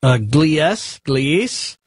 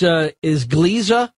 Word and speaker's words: Gliese: help me with this is how this is pronounced. Gliese?